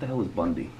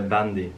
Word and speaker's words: bandy: first thing I want to ask you is Bundy Bundy Bundy Bundy what do you mean the sport with the Oh Bundy Bundy yeah it's am I saying it correctly yeah I didn't understand it's a bandy but then yeah but it's it's all nice